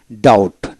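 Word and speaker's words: doubt: ডি ও ইউ বিটি ডাউট অর্থাৎ ডি ও ইউটি ডাউট বি উচ্চারিত হবে না একইভাবে সি সাইলেন্ট যেটা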